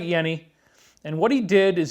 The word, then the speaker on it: Jenny: like you would say jenny the j is actually silent it's more like a y so his name is pronounced dr hans yenni okay sort of like